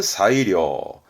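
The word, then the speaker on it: 最良: 그럼 발음은 사이료, 사이료.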